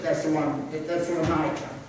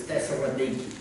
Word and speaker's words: Thessaloniki: Now, you know, with this message that Paul's bringing to the church at Thessalonica, that's the way we pronounce it in America, but the way they pronounce it is Thessaloniki. I just thought I'd throw that out there.